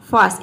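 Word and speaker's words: farce: फास्ट, इसको हम फास्ट pronounce करते हैं।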